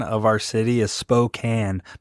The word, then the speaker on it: Spokane: also also guys I want to say the pronunciation of our city is Spokan not Spokane I hate when people say that Spokane Washington